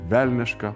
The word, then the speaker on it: vélniška: On the first one, for instance, vélniška “devilish”.